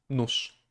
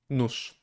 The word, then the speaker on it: nóż: Ż, ż, ż. Nóż, nóż. Actually, this is... both use can be used here, I guess. Because they produce the same sound, right? Nóż, nóż, nóż.